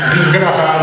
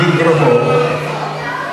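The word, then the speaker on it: विग्रह: So, Vigraha, not Vigraho, as we say in Bengali.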